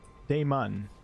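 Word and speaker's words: Dammon: damage out of onward Damon Damon that is how they pronounce it in the game okay thought it was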